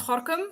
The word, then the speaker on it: Gorinchem: Yeah, this is the same because like even though it says like Gorinchem, it's pronounced Gorkum, and it's like what?